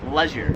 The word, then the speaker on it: leisure: 20 is leisure, so me and like every American pronounces it leisure. I've never heard it pronounced any other way. Leisure. However, I came here to Australia and they pronounce it leisure.